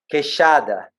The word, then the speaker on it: queixada: So we call queixada.